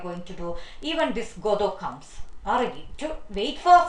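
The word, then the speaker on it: Godot: Please note down the reading pronunciation, Godo. It's not T is silent there, who may or may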